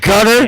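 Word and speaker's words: Qatar: course were communicating with Hamas through this it's pronounced Gutter and we have seen uh Israel take some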